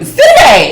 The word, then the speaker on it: Sidibe: Sidibe is how she pronounced it on that podcast.